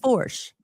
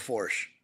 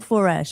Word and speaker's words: Foersch: So, almost like for almost Forch. Yep. Porsche with Forch. There you go. Okay. I'll remember that now. Say, Yep. I keep saying foresh.